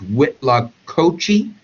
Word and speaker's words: huitlacoche: in Spanish cultures, and I got the pronunciation just because I had no idea how to say the word, but it's Huitlacoche, right?